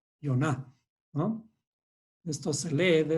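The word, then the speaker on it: יונה: Entonces, esto se escribe en español, digamos, o se pronuncia como Yoná. Yoná, ¿no? Esto se lee de esta forma como Yoná.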